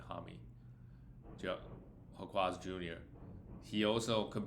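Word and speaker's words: Jaime: Same thing with Jamie Hami. Actually, we should probably pronounce his name Hami.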